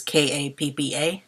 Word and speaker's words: kappa: course bring in the Kapaa romanized as k APPA and pronounce it like they would pronounce the Greek letter as Kappa interestingly their take on